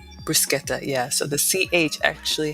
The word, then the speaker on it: bruschetta: you could do like I know we say bruschetta but when I went to Italy the proper pronunciation is bruschetta bruschetta yeah so the CH actually has the sound